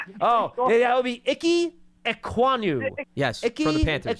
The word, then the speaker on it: Ekwonu: I thought he had well, can you help me pronounce the offensive tackle that you Oh, that would be Ike Ekwonu.